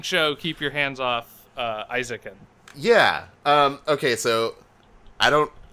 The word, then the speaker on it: Eizouken: Let's talk about this incredible fucking show, Keep Your Hands Off Eizouken. Yeah. Okay, so I don't want to be this guy, Stu. Mm-hmm. It's Eizouken.